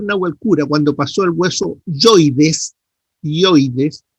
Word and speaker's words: hioides: cuando pasó el hueso hioides tiroides les dijo que no estaba con una con un acento pero en la pronunciación se hace como que si tuviera acento entonces te dice hioides eso lo dijeron perfecto